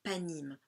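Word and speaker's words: פנים: Donc se dit panim donc le suffixe im pluriel masculin qui montre en fait donc qui s'écrit pardon p noun yod même et qui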